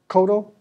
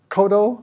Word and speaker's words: Kodo: drums i think they're called what they're called koto drums they're huge it did did i pronounce that correctly kodo kudu yeah yeah so that was pronounced a